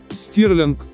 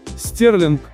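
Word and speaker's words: Stirling: Но как это правильно сказать? Стирлинг, Стерлинг или Штёрлинг? Правильно произносится как Стирлинг. И это название города никак не связано с фунтом стерлингов.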